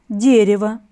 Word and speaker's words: дерево: Слово «дерево» имеет 3 слога, ударный – первый слог.